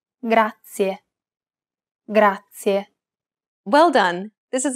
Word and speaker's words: grazie: It's pronounced grazie. This word uses the rolled R sound. Grazie. To pronounce this sound, place the tip of your tongue on the gum ridge behind your upper teeth, just like you do when you want to say the English D sound.